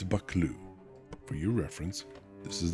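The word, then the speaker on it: Buccleuch: Okay, it's bakloo. For your reference, this is the word. And the video I watched is 59 seconds long, and he finally gets to it at about the 30-cond mark. Bakloo.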